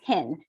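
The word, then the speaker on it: Hien: that i was like i had always introduced myself as hin so h-i-e-n hen since i was a little child in education for teachers for people to say my name say my name easily right for them for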